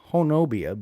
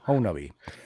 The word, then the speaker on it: Honobia: call it see hubbi it looks like hon honobia but it's actually pronounced uh honi um I did have a chance to speak